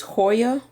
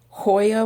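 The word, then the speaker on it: cholla: my drainage layer some how you pronounce this hoya coia wood c-h-o-l-l-a hoya wood which is like a dried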